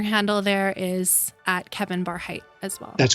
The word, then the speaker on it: Barhydt: as in Tom and is pronounced like a high bar bar height Kevin bar